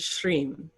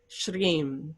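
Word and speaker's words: श्रीं: quality of abundance is shreem sh-r long i m shreem that is the quality of abundance and it belongs to lakshmi as it would and when you chant shreem you're calling upon abundance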